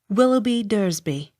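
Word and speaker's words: Willoughby de Eresby: apostrophe capital e r e s b y willoughby dursby end of section nine read by the story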